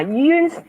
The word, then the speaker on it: Yun: Now, Yun sounds like a circle in Chinese way.